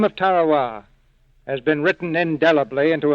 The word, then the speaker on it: Tarawa: a tiny island in the Mid Pacific called Tarawa. That pronunciation, incidentally, is from the National Geographic Society. That island will never be important economically. It is no rich source of raw materials, but the name of Tarowa has been written indelibly into American memory in